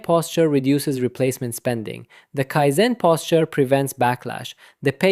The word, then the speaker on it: Kaizen: Pronounced roughly Kaizen.